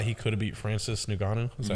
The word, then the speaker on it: Ngannou: I thought he could have beat Francis Ngannou. Is that how you pronounce that as Francis well?